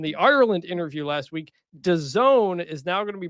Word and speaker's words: DAZN: That sound was 20% of our listenership realizing that it's pronounced DAZN and not.